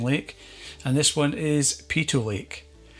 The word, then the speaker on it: Peyto Lake: is another stunning lake, and this one is Peyto Lake. It's often pronounced Peyto Lake, so please let me know in the comments below if I'm getting it right, but I believe the correct pronunciation is Peyto Lake.